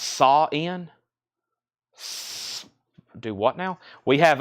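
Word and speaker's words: Samhain: bids and we have Sam Hayne is pronounced sa in do what now we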